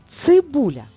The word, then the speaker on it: цибуля: А ми рухаємося далі цибуля визначаємо наголос цибуля чи падає наголос на перший склад ні тож пропускаємо слово порція порція наголос на